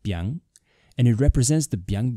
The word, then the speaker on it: biáng: It is pronounced biáng, and it represents the biáng noodles from Shaanxi province.